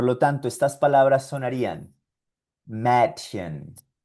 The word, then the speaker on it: Mädchen: Por lo tanto, estas palabras sonarían Mädchen, Käse, Universität.